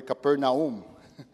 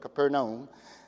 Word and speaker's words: Capernaum: Actually, I would really like to pronounce it the way they pronounce it there, Capernaum. I think that should be the right way to pronounce it. The Americans butcher that name, probably.